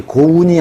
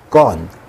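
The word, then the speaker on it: gone: 이거 고흐에다가 n2를 붙였네요 근데 발음이 고운이 아니에요 건 건 이렇게 됩니다 자 다시 정리해보면 부정사는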